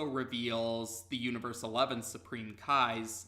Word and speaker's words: Cae: name which is Kai but in the Funimation dub it's spelled CAE even though it still sounds the same as ka I yeah it sounds the same as the K AI spelling but actually in response